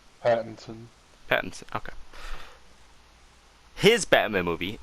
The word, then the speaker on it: Pattinson: then here's here's something really weird okay robert patton pattinson's patterson's how do you say his name pattinson pattinson okay his batman movie the batman um